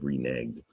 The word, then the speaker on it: reneged: You got the past tense verb, reneged. But it looks like edged, right? Or egged. So that silent E doesn't work here again.